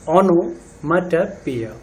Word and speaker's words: onomatopoeia: Pronunciation पे ध्यान देंगे, ओनोमेटोपोइया, ओनोमेटोपोइया।